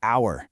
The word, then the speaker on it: hour: And what about hour? Exactly. The H is totally silent.